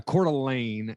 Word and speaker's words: Coeur d'Alene: listening to this uh i'm based out in coeur d'alene idaho man and we're being swapped by everybody